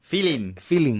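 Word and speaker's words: filin: In Spanish, funny because we spell it F-I-L-I-N-G, right? No, without the G at the end. Feeling, yeah. And it comes from the word, the English word of feel, right?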